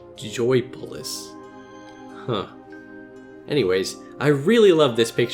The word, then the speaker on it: Joypolis: Hey, wait a minute, I've been saying it wrong, it's not Joyopolis, it's just Joypolis.